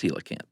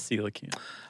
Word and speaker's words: coelacanth: Or pronounced, rather. Right. Either one. But it's coelacanth. It is coelacanth.